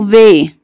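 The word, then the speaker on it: W: اما بقى الحرف ده اسمه في، الحرف ده اسمه ايه؟ في. وحرف الفي ده عامل زي الفي بالانجلش، هو ده اللي احنا بنقول عليه في، عشان كده حرف الفي ده بنقول ايه؟ فاجنر فاجنر. يبقى لو اول ما تشوف الحرف ده تقول عليه ايه؟ في، وتفتكر الفي بتاعه الانجليش.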